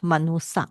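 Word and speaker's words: manussa: Manusya, Sanskrit manusya, Pali will be SY become SS, manusa.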